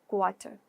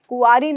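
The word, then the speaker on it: quarry: मात्रा, क्वेरल, झगड़ा करना, क्वारी, क्वारी, कुआरी नहीं है ये, कभी क्या बोलो? कुआरी, क्वारी, क्वारी, ठीक है।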